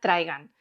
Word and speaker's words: Trigun: trigun de yasuhiro Nao yo le llamo trigun porque en mi adolescencia Cuando se ponía el anime en la televisión de Cataluña se le llamaba trigun pero en realidad la pronunciación correcta teniendo en cuenta que está en inglés sería trigan es un manga shonen